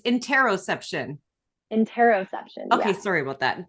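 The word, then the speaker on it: interoception: processing how interesting and I said it wrong I said interception but it's interroception enteroception okay sorry about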